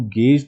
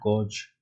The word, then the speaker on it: gauge: So the poll is used to gauge the public's opinion on the president. It is not gauge. The correct way is gauge.